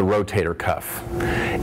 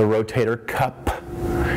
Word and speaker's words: rotator cuff: butchered it is the rotator cuff it is not the rotator cup it is not the rotary cup it is not the rotary cuff it is the rotator cuff it is a cuff